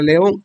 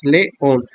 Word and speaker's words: león: Otro ejemplo sería la palabra león, que se divide en dos sílabas, león. Y como se puede oír, la sílaba on es la sílaba tónica.